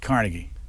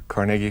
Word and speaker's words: Carnegie: you pronounce Carnegie emphasis on the middle syllable not Carnegie no no and if you go into New York City and you go to Carnegie Hall they'll pronounce at Carnegie and it when he was growing up his nickname was neg so that that kind of settles the dispute helmet how long did